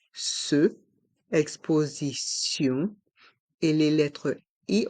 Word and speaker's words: exposition: une est mué une exposition une exposition et dans le mot exposition le son du T change pour le son de s ce exposition et les lettres i